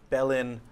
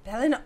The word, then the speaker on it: Belin: You guys were on the heels of a drow priestess by the name of Belin Augurin. Belin Augurin. Mm-hmm. Belin Augurin. Yes. Let's all see how we pronounce, how you spell that.